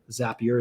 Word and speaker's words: Zapier: going to want to use a platform like zapier zapier as apr however you want to pronounce it to send that lead over and